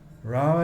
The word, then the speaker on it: Ram: Rama is feminine. Sita is Ram. Sorry, Ram, not Rama.